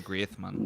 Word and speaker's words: Griezmann: being that uh antoine griezmann uh greatman do you say with that instead of the z no you pronounce the said grease you're right but i've heard that he prefers the spanish pronunciation greathman well he's french yeah